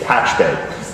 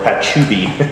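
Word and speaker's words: Pachube: Now, we came from a heritage of acquiring a company named Patchbay, or Patchube, if you happen to see it, it's spelled, it's P-A-C-H-U-B-E.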